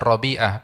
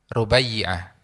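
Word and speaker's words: Rubayyi'ah: Ya kadang-kadang ya salah baca, kadang-kadang bilangnya bacanya Rabiah. Padahal yang benar adalah Rubai Rubayyiah ya.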